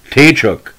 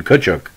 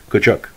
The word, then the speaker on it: Tkaczuk: seasons with the rangers the the club uh pronounced his name taychuk because derived rangers director of player personnel feds was easier to say than the correct pronouns and pronunciation kuchuk prior to the 79 season 70 season the